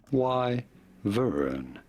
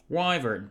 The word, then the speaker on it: wyvern: a wild wyvern wyvern how do you pronounce this y Vern pretty straight wyvern thank you very much